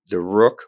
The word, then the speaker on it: Rukh: Yeah, well, all the pieces I've named from the original Indian chess, Chaturanga, there's the infantry, we have the Rukh, which is spelled R-U-K-H, which stands for chariot.